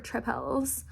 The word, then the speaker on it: tripel: I have had 2 of these beautiful little sour tripels. Sour tripel. It's not spelled like triple. It's spelled like tripel.